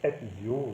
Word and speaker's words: Ezio: Alors c'est Ezio, le Z se prononce Ezio, mais autrement pour l'accent c'est bon.